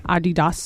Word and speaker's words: Adidas: Can I just point out that Adidas is not the way the company is pronounced in German? So how's it pronounced in German? Adidas.